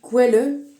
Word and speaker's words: Quelle: Et l'eau en allemand, la source ça se dit quelle et ça s'écrit exactement quel comme nous on dit quel.